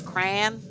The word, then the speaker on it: crayon: what a burger right midwest accent says crayon crayon that makes sense crayon like there's no it's like like one like it's like one syllable cranberry yeah that makes